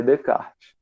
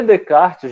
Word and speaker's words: Descartes: Como ele é francês, você não pronuncia os S's, ó. Nem esse S e nem esse S aqui. O René Descartes. O René Descartes, gente, ele é muito conhecido também na matemática.